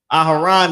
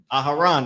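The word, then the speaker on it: אהרן: Aharan is Aaron. Aharan, that's how you say it.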